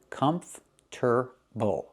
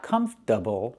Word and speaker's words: comfortable: Not uh but the R is after the T, not before the T. I know it's not written that way, but that's how we pronounce it. It's one of the pronunciations. You can say comfortable. Comfortable. Or you can say comfortable, but not comfortable. Again, comf. Use the sound like in burger. Comfortable. The stress is on the first syllable.